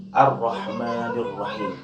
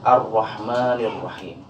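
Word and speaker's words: الرَّحْمٰنِ الرَّحِيمِ: Ro bertasjid atau setiap huruf yang bertasjid dalam ilmu tajwid selalu disebut sebagai nabr, di mana kita harus membacanya dengan cara menekan ar-Rahmanir-Rahim. Tetapi dalam takrir, pengulangan dari penekanan itu tidak berlebihan. Seperti ar-Rah, itu berlebihan. Cukup simpel menyebutkan ar-Rahmanir-Rahim.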